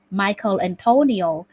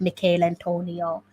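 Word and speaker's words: Michail Antonio: get the name wrong i've heard the commentators say michael antonio instead of mikhail antonio yes mr stew dirty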